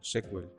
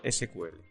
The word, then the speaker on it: SQL: Más adelante se le asignaron las siglas SQL, aunque en inglés se siguen pronunciando sequel. En español se se le llama SQL.